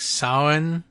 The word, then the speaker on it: Samhain: There's a pagan holiday, which is spelled funny versus how it's pronounced, I understand. I guess it's pronounced like Samhain or something like it, but it's spelled Samhain.